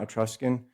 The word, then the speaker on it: Etruscan: I say Etruscan, not Etruscan, because it's a Latin word, Etrusi, and the SC is pronounced like an SH in Latin.